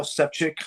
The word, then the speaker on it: Sefcik: my man yeah so my name is sepchick last name is spelled s-e-f-c-i-k um i'm running as unaffiliated for